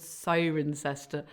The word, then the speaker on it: Cirencester: a beautiful house called siren sester park is in Siren have to say it like that which is a really